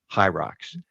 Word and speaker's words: Hyrox: It's spelled H Y R O X. Hierrox. Uh, hi is uh uh for hybrid.